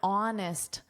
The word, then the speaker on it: honest: an honest conversation. Notice we have an because honest starts with a vowel sound and you add an to a vowel sound.